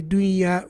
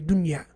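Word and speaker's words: دنيا: So dunya, for example, on the opinion that ya is from the letters of idgham, dunya, we don't say dunya, we say dunya. We pronounce the noon with idhar.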